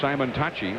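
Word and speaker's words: Simontacchi: And on the mound for the Cardinals is the rightander Jason Simonachi. That's the way he pronounces it.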